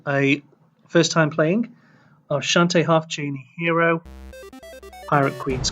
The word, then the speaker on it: Shantae: Official pronunciation of Shantae there. I used to say Shanty because that's the pun, isn't it?